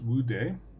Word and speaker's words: Wu De: on to explain a little bit it is pronounced would de who is easily translated from Chinese and stands